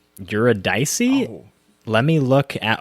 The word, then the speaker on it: Eurydice: Pronounced as Eurydice. Eurydice.